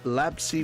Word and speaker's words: Labsy: with the Titans, and Labsy with the Commanders. Good luck, all teams. Yeah, Mike G at least has one team to root for. It's pronounced Labs, like the dog.